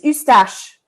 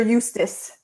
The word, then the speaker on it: Eustache: Sorry, I gotta say it properly, buddy. It's Eustache. All right. Stop pretending that you're Eustace. It's Eustache, okay?